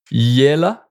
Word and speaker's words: il est là: And then if we replace with I est là, well, then it's become like yela.